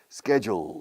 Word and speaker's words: schedule: Así se pronuncia la segunda parte. La DU tiene sonido de Jew, como judío, o jewel, Jew.